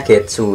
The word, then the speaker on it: 月: Ini bacanya Getsu ya, sini ya. Lah. Getsu.